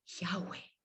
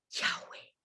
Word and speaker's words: Yahweh: El nombre de Yahweh no tiene ninguna pronunciación tosca como la K, la R, la T, la M. Es solamente un soplido. Yahweh. Yahweh.